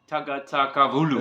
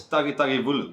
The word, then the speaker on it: Tagitagivulu: Tagatavulu. It's Tagitagivulu.